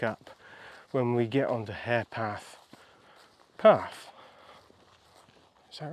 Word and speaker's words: Herepath: I'm on the track now, which is, I've been told it's called Harepath, but it's spelt Herepath, H-E-R-E, Herepath. So it's here, we're here at Herepath.